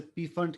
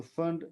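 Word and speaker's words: Pfund: बाद लोग इसे पी फंड कहते हैं। पी साइलेंट तो फंड सीरीज हम इसे कहते हैं।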